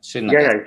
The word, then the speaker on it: Srinagar: He has done, the Kashmir Institute of Medical Science in Srinagar. Is that how you pronounce that? Yeah, Srinagar.